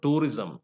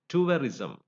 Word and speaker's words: tourism: word it is not tourism it is turism and you have to use this gong here Tu and turism and tuist it is not a tourism so we move on